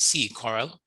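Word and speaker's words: CCORAL: information on sea coral and it is pronounced sea coral the caribbean climate online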